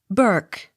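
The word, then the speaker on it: Bourke: not sounded b o u r k e burke b o u r n e burn b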